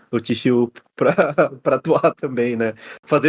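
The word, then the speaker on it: Chishū: icônico, né, que é o Shishu Ryu, não é isso que se pronuncia? Chishu. É Chi.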